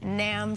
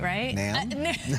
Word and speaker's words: NAMM: Yep, Coco live at the NAMM show. I said it right? NAMM?